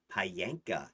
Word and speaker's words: Payanka: Brood children are weavlings who bear a profound resemblance and spiritual connection to Payanka, is how you'd pronounce that. Payanka is a primordial feminine, I don't want to say goddess because the goddesses are the parents of the primordials.